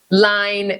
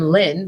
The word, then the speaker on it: Lyne: And he butchered everybody's name, but mine was Line, and I'm Lynn, but I'm spelling it Lyne because it's like because it's a French way to spell it, or Line, which would be line, but it's Lyne.